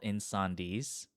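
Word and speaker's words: Incendies: um and uh this movie is called in sandis um which is i believe it's a french word um but like you spell it out like incendiz i-n-c-e-n-d-i-e-s and i i think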